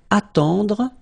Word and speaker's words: attendre: Then, attendre. Attendre. Remember, final you don't insist on it, it just gives you the possibility to pronounce the dr, dr.